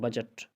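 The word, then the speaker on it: budget: अगर किसी लफ्ज़ में जी से पहले डी का लफ्ज़ हो तो डी हमेशा साइलेंट होता है। जी से पहले डी का हो, जैसे आप कहते हैं बजट, अच्छा, ग्रज, बैर दुश्मनी कहते हैं ग्रज।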